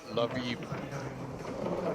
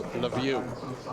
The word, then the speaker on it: Lviv: They're both from the city of Lviv, which some pronounce Lviv. We have a lot of Ukrainian viewers watching today. So if you have a proper pronunciation, please let me know. Lviv, Lviv.